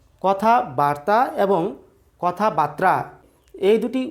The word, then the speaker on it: কথাবার্তা: জেনে নেওয়ার চেষ্টা করি কথাবার্তা আর হচ্ছে কথা বার্তা কথাবার্তার অর্থ হচ্ছে বাক্যালাপ বাক্যলাপ বা কথোপকথন কিন্তু কথা বাত্রা এরকম শব্দ বা শব্দের উচ্চারণ কিন্তু বাংলা ব্যাকরণের অভিধানে নেই কাজেই কথা